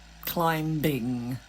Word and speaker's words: climbing: Silent letters. Yeah. Those tricksters. They're going to get you. Climbing.